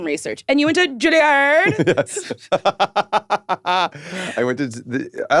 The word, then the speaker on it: Juilliard: So, my assistant, Lindsay, did some research, and you went to Juilliard? Yes. I went to, I like to pronounce it Juilliard.